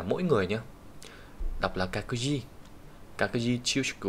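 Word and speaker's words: 各自: Cái từ các này thì luôn đọc là kaku nhé.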